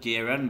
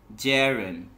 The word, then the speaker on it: gerund: It's not geran but gerund.